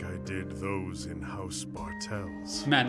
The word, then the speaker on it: id: not to keep the ID in check that's the thing I just wanted to remind us of the whole entanglement of this Haram it's not pronounce ID it is just id id okay it's an ID